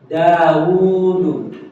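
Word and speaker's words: داود: ya alhurufulati tun W ada huruf yang diucapkan tapi tidak ditulis huruf ya diucapkan tapi tidak ditulis ada ya ada contoh seperti daudu daudu nama Nabi Daud ya Jadi ini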